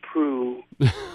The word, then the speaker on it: Proulx: Oh, I'm glad you know how to pronounce Prue. I'm glad I know how to pronounce Prue, too. I am. I've seen that LX before and wondered how, yes, it's French, isn't it? It is. It's French-Canadian.